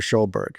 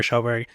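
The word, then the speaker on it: Sjöberg: Is that how you pronounce it? Yeah, it's Dr. Schoberg. Dr. Schoberg.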